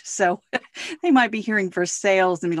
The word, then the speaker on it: Versailles: they might be hearing for sales i mean like what are you saying yeah yeah yeah yeah it is spelled exactly like versailles but because it is kentucky it is pronounced for sales and just so everyone